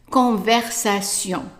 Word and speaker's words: conversation: Conversation, conversation.